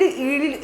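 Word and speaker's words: yield: इसको वाइल्ड ईल्ड ऐसे बोलेंगे ईल्ड। क्या बोलेंगे? ईल्ड। व्हाई साइलेंट है यहां पे।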